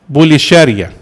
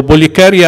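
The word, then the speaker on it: Pulcheria: عهد الامبراطور ماركيان وزوجته بوليشاريا، بوليشاريا او بوليكاريا او بوليخاريا، ثلاث اسماء هي اسم واحد حسب انتوا عارفين حرف الكي في اليوناني بينطق كاف وشين وخاء، يعني فاللي يقول كده صح كده صح كده صح، واخدين بالكم؟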